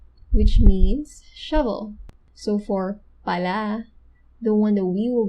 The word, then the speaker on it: pala: with how you pronounce pala because there is another tagalog word which means shovel so for pala the one that we will be discussing the stress is in the first syllable because that's shovel it